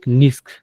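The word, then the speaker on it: NISQ: will hear lot of uh u words like nisk nisk uh pronounced The NISK stands like the same noisy intermediate scale quantum.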